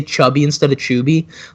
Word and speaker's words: Chuby: No, it's Chuby. Like, I used to do that as a joke on, like, PlayStation. Back when people in the lobby would call me Chubby, and I'd be like, you said it wrong.